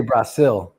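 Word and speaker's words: Brasil: They say Braasil. If you look, it's spelled B R A S I L.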